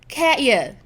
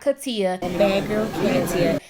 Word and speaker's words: Katya: what I'm talking about like this girl's name is pronounced Katya the only difference that I could say is that I said it a little bit more relaxed but it's still not Katia and it's still not